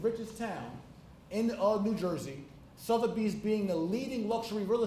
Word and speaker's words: Sotheby's: the richest town in America I couldn't even pronounce their name it was SOT h-e-b YS Sotheby's and so I walked into Sotheby's and